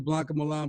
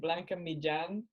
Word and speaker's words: Blanca Millan: Because I'm sure everyone calls you Blanca Millan, but what's the actual Spanish pronunciation sound like? It's pretty off, but I just gave up. You actually say it Blanca Millan, but yeah.